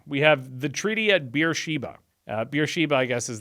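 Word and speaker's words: Beersheba: third section now we have the treaty at beer Sheba beer Sheba I guess is the yeah it's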